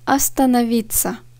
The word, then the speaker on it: остановиться: Bir sonraki kelime остановиться. Остановиться. Остановиться. Durmak, kalmak. İ harfine vurgu düşüyor. O harfleri vurgusuz olduğu için A gibi okunuyor.